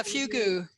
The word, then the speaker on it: fugu: Is that how you pronounce it's like it? the fugu, right? Yeah, fugu.